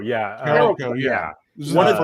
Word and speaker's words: Carolco: One, Carocolo. I forget how to say it. Carolco, yeah. Carolco, yeah.